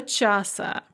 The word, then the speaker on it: часа: And note that here час is not being counted It's the object of a preposition, and so the stress is on the stem in the genitive, до часа.